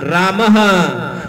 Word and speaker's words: रामः: हाँ, रामः। रामः क्या पढ़ा आपने? राम। रामः पढ़ा कि नहीं पढ़ा? तो विसर्ग एक ह जैसा उच्चारण स्थान है। राम, रामः, रामः। तो विसर्ग और ह एक जैसा है, कभी भी भूलना मत।